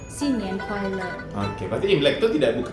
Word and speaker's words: 新年快乐: Yang sebenarnya Imlek itu kalau dalam pengucapan orang Chinese itu Xinyan, Oh, tahun baru. Kuaile itu ya. Kuaile gitu, bahagia. Jadi Hmm. sepanjang tahun itu bahagia. Jadi pengucapannya itu Xinyan Kuaile.